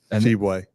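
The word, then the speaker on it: Tshiebwe: the NBA yeah Oscar sheway and can you say that again Oscar sheway I I only honestly said it to flex I knew how to say it sheway I love that because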